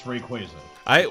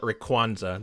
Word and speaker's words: Rayquaza: When I was like really little, I used to call it Rayquaza. There's no N in there, but I don't know where I pulled that. I never noticed the Y, so I just called it Rayquaza.